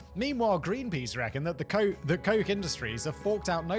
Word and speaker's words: Koch: K-O-C-H is pronounced Coke, right? Like Koch. Koch is pronounced Coke. Have I got that right?